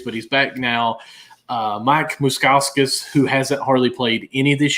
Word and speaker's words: Moustakas: Moustakas. That's it. Yes, I'm sorry. You still said it wrong. The moose. Moustakas. There we go.